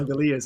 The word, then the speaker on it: Langoliers: Yeah, Langoliers.